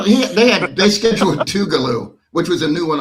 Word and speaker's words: Tougaloo: Have you have y'all ever played Tougaloo before? Am I even saying it correctly? Um, you're saying it right.